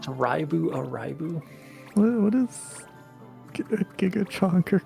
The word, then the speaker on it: Live A Live: I think HD2D was done pretty good in the Live a Live remake. It's pronounced band. If anybody tries to tell me it's pronounced alive, I'm gonna kill you. It's pronounced Raibu Araibu.